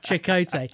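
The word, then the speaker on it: Chakotay: and you always get but you remember it chakote when he sits down and the console comes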